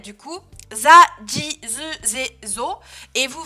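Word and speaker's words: ぢ: attention à ça, hein, un chi plus des petits tenten, ça fait pas zi, mais ça fait ji, avec un D prononcé, ji, za, ji, zu, ze, zo, za, ji, zu, ze, zo.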